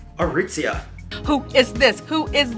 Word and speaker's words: Aritzia: How do we pronounce the name? Aritzia. Aritzia.